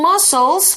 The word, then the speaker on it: muscles: It's spelled muscle, muscle. It's got that strange SC there.